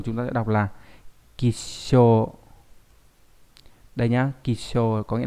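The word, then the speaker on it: 吉祥: Ví dụ, trong từ cát tường chúng ta sẽ đọc là kisho.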